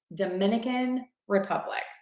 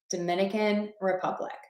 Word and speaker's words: Dominican Republic: Dominican Republic. Dominican Republic. So with that, you want to stress the word number 1, Dominican, and then unstress Republic, word number 2, Dominican Republic.